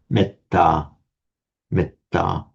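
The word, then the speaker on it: metta: So um on its own you may the a me would would be long but the e here becomes short because it's followed by a double consonant meta meta.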